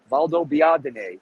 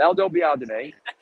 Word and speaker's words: Valdobbiadene: frames are made near Valdobbiadene. And if you're Italian, you can pronounce that. But if you're not Italian, it'll be terrible. You can't pronounce it. Valdobbiadene.